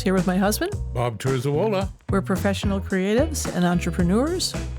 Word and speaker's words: Terzuola: don't think so no it's pronounced exactly the way it's spelled turola okay well it's it's